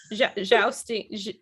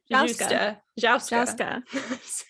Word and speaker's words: Jouska: Jouska. Jousting. Jouska. I said it wrong too. It's like joust, but that's what I keep wanting to say.